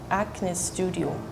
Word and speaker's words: Acne Studios: way, you would say Acne Studio. But I have never heard anyone say it like that. People would just say Acne Studio, like as it sounds in English.